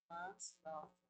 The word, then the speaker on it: manslaughter: En inglés la AU suena como decía anteriormente y la GH como una E. Parece mentira, pero hay que pronunciarlo con manslaughter.